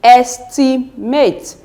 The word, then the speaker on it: estimate: from the and so let's count 1 2 3 so it will be estimate estimate that's the third cable from the end then seate separate